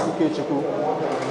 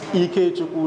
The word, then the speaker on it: Ikechukwu: For those of you who don't know how to pronounce Ikechukwu, it's Ikechukwu, not Ikechukwu, please.